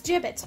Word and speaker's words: Jibbitz: how to pronounce this hold on jabez all right it's jibbets alright i'm doing good all